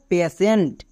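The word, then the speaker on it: patient: তালিব বস্তু উচ্চারণ করব যেমন দেখো পেশেন্ট এখানে টি আছে টি এর জন্য আমরা সবাই টো উচ্চারণ করি কিন্তু এখানে আমি টো উচ্চারণ করতে পারবো না কেন কারণ হচ্ছে টি এর ঠিক পরে দেখো আই ই আছে এক্ষুনি নিয়মে বলে আসলাম টি এর পরে যদি আই ই থাকে তখন টি এর জন্য তালিবস্ত্র হয়ে যায় তার মানে পি এর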